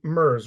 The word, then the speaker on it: Merz: And Merz, right? Soft Z.